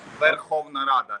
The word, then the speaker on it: Verkhovna Rada: of the members of the how do you pronounce that, Yaroslav? Yeah, Syria. The parliament. Verkhovna Rada.